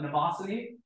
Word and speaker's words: Mnemosyne: So the name, which everyone has trouble pronouncing, it comes from a mnemosyne, who's the Greek goddess of memory.